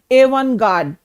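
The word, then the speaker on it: avant-garde: यह French origin का word है। और इसमें जो टी है, यह साइलेंट है। तो, इसकी प्रोनंसिएशन क्या है? इसकी प्रोनंसिएशन है एवन गार्ड।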